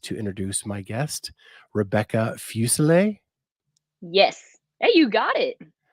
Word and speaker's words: Fuselier: i am pleased to introduce my guest rebecca fusilla yes hey you got it i got it yeah everybody mispronounces my name so i try to get